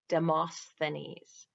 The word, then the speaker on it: Demosthenes: What did the Greek orator Demosthenes, let me say it correctly, Demosthenes, put in his mouth to improve his speech, to improve his speaking ability?